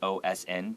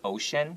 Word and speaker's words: Ocean: big letters like this, we usually read it out like OSN, but I know Gao Erxuan, it's Ocean. He pronounces it Ocean.